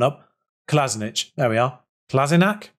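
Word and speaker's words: Kolašinac: kolasinac there we are klasinak is it klasina it's actually classic nag for some reason i've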